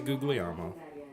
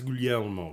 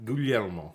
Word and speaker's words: Guglielmo: I say Gugliemo, but I'm incorrect when I say Guglielmo Okay. because it's Guglielmo according to the Italians. Gugliemo. Say that again. Guglielmo. Guglielmo.